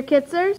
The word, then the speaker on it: Kitzers: Named her Kitzers. Because it rhymes with scissors.